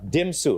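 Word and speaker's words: DMMMSU: So Chris, yeah, I have to say it right. Dimsu, right? That's how it's said.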